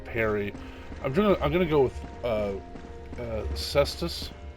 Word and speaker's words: caestus: I'm gonna go with Cestus. It's actually in Latin. That would actually pronounce Caestus.